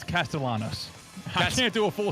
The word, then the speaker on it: Castellanos: It's Castellanos. I can't do a full season with it. Castanos. No. Castellanos.